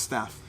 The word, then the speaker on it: stave: I'm the young son with a stave ready to knock some... It's pronounced staff. It's a stave, and it's knocked some thunks into some wolves.